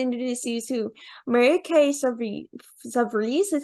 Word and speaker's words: Savarese: I'm super excited to introduce you to Mary Kay Savarese. Is that how you say it? Savarese, you did great.